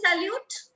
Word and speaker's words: salut: Do we say salute? No. In French, we say salute. We keep T silent there.